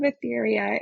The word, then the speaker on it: Aetheria: So Tales of Athetheria is uh the name of the book series that I'm doing. And then the game series is going to be called Adventures in Athetheria.